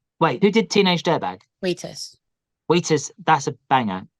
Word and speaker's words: Wheatus: If there's any comparison between me and Wheatus, and you do have to pronounce the H in Wheatus. Is Wheatus... Wait, who did Teenage Dirtbag? Wheatus.